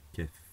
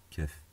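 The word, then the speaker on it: كاف: Donc, le kef. En français on dit K, en arabe on dit kef. Donc maintenant, si je veux écrire K, donc, comme ceci en français, c'est très simple. Je prends mon kef, je l'écris, et au-dessus,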